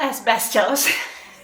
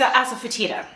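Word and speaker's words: asafoetida: trouble pronouncing it's um it's not as best why does that come to mind definitely not not as best s it's ASA fatita ASA fatita that's one of the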